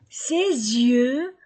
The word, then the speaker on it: ses yeux: ma fille ma fille ses yeux sont bleus ses yeux s entre deux voyelles ces yeux ses yeux